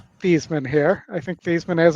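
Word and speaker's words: Theismann: but he was Joe Thesman until he decides and he for a marketing reason changed the pronunciation of his name to Thyman because it sounded like Heisman.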